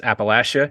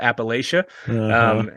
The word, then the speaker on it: Appalachia: region and for anybody listening that's how you pronounce Appalachia it's it's the Lasha um and you know you know someone's not from Appalachia when they call it Appalachia and so uh this is the Appalachian region